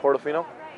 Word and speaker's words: Portofino: ferrari another ferrari we are here it's a puerto fino fortofina ammo i have no idea how to pronounce that portofino how do you pronounce that portofino yeah all right portofino damn bro i need